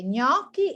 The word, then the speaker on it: gnocchi: to a restaurant and now you have to pronounce it well when you eat some pasta okay gnocchi it's a kind of pasta now you know